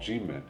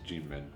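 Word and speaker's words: Kinmen: And both of them are come from an island called Gmen. And it's spelled with a K there, but it's not Keen. It's Gmen.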